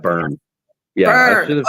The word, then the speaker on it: Byrom: I want to make It's sure actually I pronounce Burn.